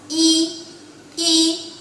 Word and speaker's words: 一: Il se prononce I, I.